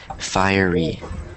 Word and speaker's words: fiery: that look weird so so it's pronounced so this is a weird word because it looks like it's it's looks like that but it's pronounced like this like fiery fiery so that's why that